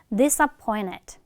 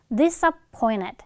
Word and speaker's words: disappointed: 그래서 이번에는 앞에 는 발음에 동화가 돼서 얘도 그냥 N으로 발음해주면 돼. disappointed.